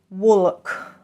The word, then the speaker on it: walk: pay attention, guys, yes, the L is pretty much silent. We don't say walk. How would you do that? We just don't. There's a silent L.